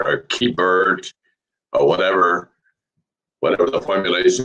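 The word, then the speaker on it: Keibert: many different pronunciations for k-pair or key bird or whatever whatever the formulation would be as you can find sports talk he prefers to have himself called k bear okay uh josiah gray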